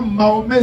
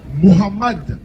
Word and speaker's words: Mohammed: On dit Mohammad Kaddafi, Mohammad Ben Salman, Mohammad Ali, Mohamed Salah, on dit pas Mahomé Salah.